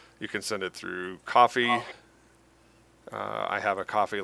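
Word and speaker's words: Ko-fi: You can send it through coffee. Uh I have a coffee link. Um some people call it Kofi. It is coffee.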